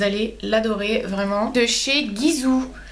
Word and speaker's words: Gisou: l'adorer vraiment de chez Gizou alors ça se dit Gizou j'ai entendu prononcer Gizou mais c'est Gizou la créatrice donc nine